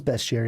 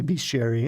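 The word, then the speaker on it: Bestiary: cool hey hey Chad Beast Jerry or best Jerry I know it's best Jerry I say Beast Jerry and I will continue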